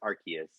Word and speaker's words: Arceus: about that game we learned that it's actually pronounced archaeus like six different religions so I've heard of it like six different ways I used to say Arceus as well like that's how I always knew